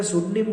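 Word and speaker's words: pseudonym: लेना कोई नाम लेना उसे क्या बोला जा सुनिम बोला जाता है सुनिम शनिंग की स्पेलिंग होती है पी एस ई यू डी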